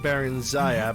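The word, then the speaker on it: Barenziah: It's pronounced Baron Zaya, but give it another okay.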